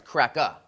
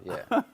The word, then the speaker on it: CRACKA: So I got to talk about your movie, CRACKA. When it says CRACKA, are you talking about white cracker? Yeah, yeah. And you got to say it right. It's CRACKA, not CRACKA. cracker.